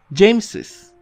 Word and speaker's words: James's: James, y aunque aquí no hay una E como en Bruce, vamos a pronunciarlo como si hubiera una. James's.